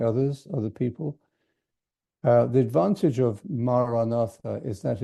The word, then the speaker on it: Maranatha: And thirdly, the length of the word, the 4 syllables, makes it easier to say it rhythmically, maybe with your breath. Many people will say the mantra with their breath. So they might breathe the word in silent, saying the word as you breathe in, Maranatha, and breathe out in silence. Or you may say the first 2 syllables, Ma-ra, as you breathe in, and Na-tha as you breathe out.